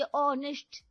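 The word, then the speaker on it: honest: ऑनेस्ट एच तो silent होता है ना तो स्पेलिंग भी साइलेंट कर देने का।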